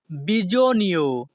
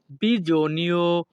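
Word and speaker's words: bisogno: প্রয়োজনের ইতালিয়ান ভাষা হবে বিজনীয় এখানে এস ও এর উচ্চারণ হবে জো ইতালিয়ান ভাষা বিজনীয় বাংলা অর্থ প্রয়োজন পরবর্তী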